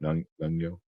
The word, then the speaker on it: Nyong'o: Nyong'o.